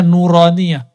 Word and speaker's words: nuraniah: Makanya ribat itu kita kasih nama nauraniah. Itu bacanya nuraniah.